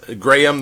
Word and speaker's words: Grayum: Grayum, the correct pronunciation? You got it. It's like the graham cracker, maybe a little bit like you're from the South, though, saying Grayum.